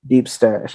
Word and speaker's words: DeepStash: Deep Stash. Let me make sure I'm pronouncing it correctly.